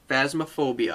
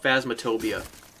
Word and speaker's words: Phasmophobia: I always say it wrong. Phasmophobia. I always call it Phasmatobia.